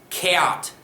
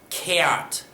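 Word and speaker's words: gheert: put that in the past tense it's g-h-e-e-r-t chaot chaot is what how you pronounce that past participle so make note of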